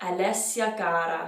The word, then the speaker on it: Alessia Cara: Anyway, so the singer I'm talking about is Alessia Cara. If you applied Italian pronunciation rules to her name, you would get Alessia Cara.